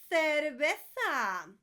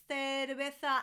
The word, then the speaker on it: cerveza: The V's and the B's in Spanish are always, everywhere, pronounced like a B.